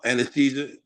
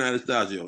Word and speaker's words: Anastasio: okay what your attorney's name uh uh uh Anastasia but uh Anastasia something like that is it ver Vern Anastasia yeah yeah Vern Anastasio yeah right someone would need to spell that